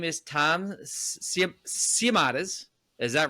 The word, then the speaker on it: Siomodes: Um his name is Tom Siamades.